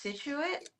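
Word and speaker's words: Scituate: It took me forever to know that it was pronounced Situate.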